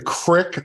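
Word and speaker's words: Krikke: the transfer portal Ben Crick I'm told it's pronounced crit the E is silent uh he is a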